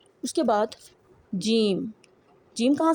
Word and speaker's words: ج: Don't completely close the mouth while pronouncing जीम जीम जीम।